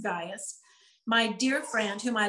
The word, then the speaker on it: Gaius: i am writing to gaius it looks like gaius but it's actually pronounced gaius my dear friend whom i love in the